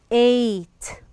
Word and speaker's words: eight: this is the word eight we write the gh but we don't pronounce it eight here we have